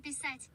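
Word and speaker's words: писать: pisat It literally almost sounds like passat.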